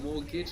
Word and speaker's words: mortgage: how be moral exactly so morgage and we have that t that we don't pronounce in mortgage that actually means death